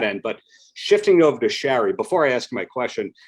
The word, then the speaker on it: Shari: Also, since you're from Long Island, you say it because people are always like, "How do you say your name?" And I'm like, "My parents are from Queens and Brooklyn, so Shari."